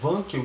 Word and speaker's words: Wankel: Esse aqui é um outro tipo de motor rotativo, é o chamado motor Wankel. Tem gente que pronuncia Wankel, tá?